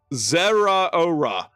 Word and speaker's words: Zeraora: But I Zeraora Zeraora, that is how you pronounce it.